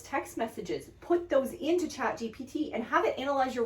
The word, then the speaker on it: ChatGPT: And now with chat GTP, like, you can go through and write an entire essay. Did I say it wrong again? Yes. What is it? But it's chat GPT.